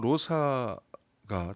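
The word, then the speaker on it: Rosa: 비단도 아나고 자 민수하 로사가 대화를 하고 있습니다 사라고 꼭 발음 안 해도 되고요 로사 라고 하면 됩니다 발음처럼 하시면 되는데 장미라는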